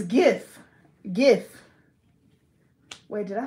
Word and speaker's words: GIF: G-I-F. Like jiff? Jiff. Like when people post a jiff on a page? Wait, j. It's gif. Gif.